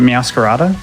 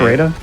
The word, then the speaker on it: Meowscarada: Is it Meowscarada? That's how I say it. Meowscarada? Because it's supposed to be like a masquerade, but it's a masquerada.